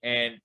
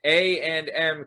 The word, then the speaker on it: A&N: stuff like that, I will say this, Vinny, and I don't know if anyone's ever brought this up to you. This was a genius move that A&M Cold Cuts did.